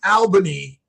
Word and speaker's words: Albany: It's not all, but it's Albany, but but but you're right. It's You pronounce it all.